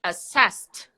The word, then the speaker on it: assessed: verb is assess assess past would be assessed so the T sound perfect nest T sounds